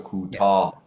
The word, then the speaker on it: کوتاه: So with the kutah, you need to hit the H as well at the end. So kutah.